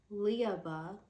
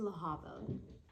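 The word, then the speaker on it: Lehabah: then there is laaba which the whole time I was pronouncing her name leaba but I guess it's it's laaba so we'll just call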